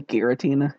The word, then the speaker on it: Giratina: okay but okay or hard g versus soft g geratina it's almost definitely giratina yeah i don't know